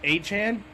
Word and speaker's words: Etienne: It's technically pronounced Achan, so we have 2 Achans in the league right now.